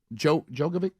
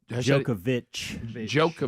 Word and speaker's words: Djokovic: Djokovic. Djokovic. There's no H on the end, but you sound out the Djokovic. H. And of course, the D is silent.